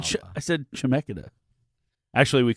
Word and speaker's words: Chemeketa: I went to Chemeketa. It's not even how you say it. I didn't even get into Chemeketa. How do you say it? Like that. Oh, Yeah, how Mike did. how'd you say it? Chemeketa.